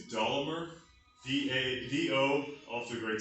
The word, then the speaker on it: Dollamur: about my max my i think the pronunciation is dolomer d-a-d-o off to the